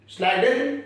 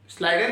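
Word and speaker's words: Schleiden: The cell theory that was given by, ये German scientist है, इनके नाम प्रोनाउंस करने में ना थोड़ा सा अलग रहता है। इन्हें कहते हैं स्लाइडन एंड स्वान। स्लाइडन and swan.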